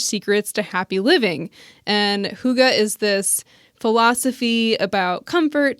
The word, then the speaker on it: hygge: g g e and it's a Danish word okay um but yeah I guess you're supposed to say hygge okay I'm supposed to